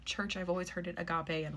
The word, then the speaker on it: agape: I've always heard it agape, and like the little emphasis thing was on the ga part, not the a, so I'm going to say agape, which is affection, goodwill, love, benevolence, brotherly love.